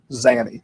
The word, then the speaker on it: Zanny: Pronunciation, sir, is Zanny. No, sir. Zany. Instead of Zenny, what you're saying.